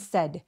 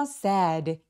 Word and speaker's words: said: laughed and said. said는 길게 발음해서 sad 이렇게 발음하면 슬픈 느낌이 들거든요. 슬프다 뜻이 아니라 이건 말했다니까 said. 턱을 벌리지 않고 빠르고 뾰족하게 입 앞쪽에서 나는 said. 이런 톤으로 발음해 주세요.